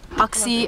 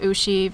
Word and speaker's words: Uxie: Uxie cosplay, apparently that's how you pronounce it. I've always been pronouncing it Ushi because that's how the Asians do it.